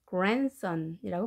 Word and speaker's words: grandson: 손자, grandson이지만 D 발음을 하지 않고 grandson이라고 발음합니다.